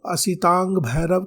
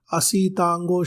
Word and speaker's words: असितांग भैरव: चाहिए माता सीता को असितांग भैरव का नाम असितांग भैरव शब्द स्पष्ट बोलना चाहिए देवताओं के नाम स्पष्ट